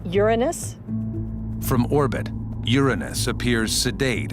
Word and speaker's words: Uranus: I pronounce the planet's name Uranus.